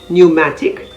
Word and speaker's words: pneumatic: l o g y p is also silent if it appears before n at the beginning of a word as in pneumatic p-n-e-u-m-a-t-i-c pneumonia p-n-e-u-m-o-n-i-a all